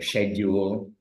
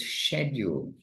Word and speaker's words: schedule: keeping us busy with a schedule or schedule those who are American those who are Canadian it's schedule not to get not to get contaminated by American pronunciation har Krishna okay anyway